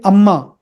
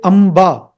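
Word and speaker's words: अम्बा: In Sanskritam, you don't say Amma, you say Amba, not Amma. You use a different letter there. Amba, Amba.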